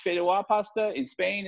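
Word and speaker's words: Fideuà: How do you pronounce it, Gerard? Fideua. Fideua. Fideua or Fideo.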